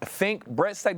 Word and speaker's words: Fink Bressack: Is Is it think Brett Tech? Did I say that right? I want to make sure I say that right. That's right.